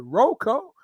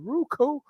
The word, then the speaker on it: Roku: some people pronounce it Rocco some people pronounce it Roku but just download the